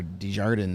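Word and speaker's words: Desjardins: and uh yes or de jardin as he pronounced it the American way um Dez jardines still Bumm that they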